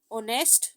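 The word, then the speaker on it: honest: जैसे ओनेस्ट, एच का sound silent है, ओ का साउंड स्टार्ट है तो इसके साथ भी हम एन लगाएंगे, ठीक है।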